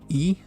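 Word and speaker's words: い: E. Looks like 2 ills, pronounced like E.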